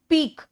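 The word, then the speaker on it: pique: ठीक है, नेक्स्ट आओ पीक। बेटा, क्यू यू ई का प्रोनाउंसिएशन को क्यू यू ई का के ही रखना प्रोनाउंसिएशन।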